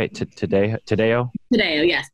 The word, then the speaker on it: Taddeo: have a special guest on the podcast Lisa today how am i pronouncing that right - today today oh yes today she has written a book called three women